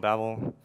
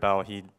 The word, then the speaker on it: Babel: So it's Babel. I mean, I don't really care how you say it, but that's how we do it. And then Sebastian, who's the creator of Babel, he like basically recorded himself saying it.